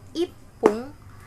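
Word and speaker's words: 一分: Nah, kalau menit itu belakangnya ada yang pakai pun atau fun. Jadi, kalau misalkan bacanya itu pung dan fung. Jadi kalau 1 menit itu ipung, kalau 2 menit itu nifun, nifung, kalau 3 menit itu sampung.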